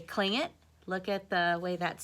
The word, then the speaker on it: Tlingit: Doesn't look like it's say culling it, but it does. So that T does not make a T sound like we say T, okay?